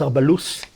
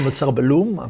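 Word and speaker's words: אוצר בלוס: -By the way, I think it should be pronounced "Otzar Balus." We all say "Otzar Balum," but the correct word is... As a brief Hebrew lesson: "Balus." From the biblical phrase "Boles Shikmim", gathering and storing sycamore figs.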